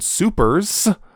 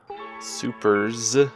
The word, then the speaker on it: Supers: We'll be talking about Sailor Moon Supers. Supers. Yes, because that's what it's called. Super S. No, just Supers. It's, if you say Super S, you're saying it wrong.